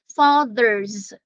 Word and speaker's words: fathers: they are pronounced differently fathers yeah the th there is hard and the S there is pronounced as Z fathers thank you so much